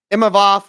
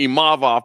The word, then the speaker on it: Imavov: Imavov. Am I saying that correctly? It's very hard for me to pronounce it.